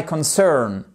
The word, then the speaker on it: concern: That's none of my concern. Concern. Vous avez votre accent tonique ici sur la seconde syllabe.